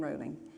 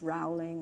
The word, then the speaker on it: Rowling: and spell Murray but no I've got rolling and everyone says Rowling and and so just